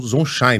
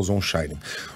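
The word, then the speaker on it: Zonshine: A pronúncia do nome do embaixador é Daniel Zonshein, né, Coutinho? Foi você que fez a entrevista? Exatamente, eu já conversei com ele algumas vezes. Daniel Zonshein.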